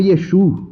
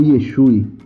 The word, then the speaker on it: Yeshua: judeus naquele período e seu nome Originalmente é pronunciado como yeshu ou Yeshua este nome era Maicon